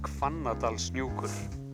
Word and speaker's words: Hvannadalshnúkur: Well, the correct pronunciation is Hvannadalshnúkur.